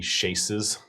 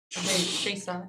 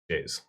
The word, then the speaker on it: chaise: it's got at least 3 chases. Shays. Shays. Is that how it's pronounced? I think it's just Shays with zzz. Shays Lounge? Shays. Chaise. And There's at least 3 of them, is what you're Yes.